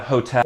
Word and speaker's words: hotel: same word exactly but said in a Spanish way don't forget that H is silent but hotel but this is like